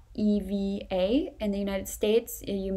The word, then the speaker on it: Eva: most people would say in the United States or English-speaking countries, because they would spell that with the letter A instead of the letter E. But Ava, E-V-A in the Netherlands is very common.